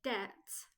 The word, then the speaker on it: debt: very common for example the word debt has a silent B we don't say debt instead the pronunciation is debt debt I have many